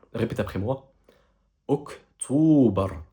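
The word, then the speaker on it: أكتوبر: Et ici, en l'occurrence, le mois d'octobre, la prononciation du mot en arabe, elle est quasiment semblable à la prononciation du mot en français. Ici, le mois d'octobre en arabe donne Oktober. Oktober. Répète après moi. Oktober.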